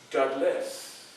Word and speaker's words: Douglass: So when they attached the name to me, I just added another S. So Douglas. See the difference? See the difference in the pronunciation? So from now on, if you would, make me happy and pronounce my name as Douglas. Put that little S on there.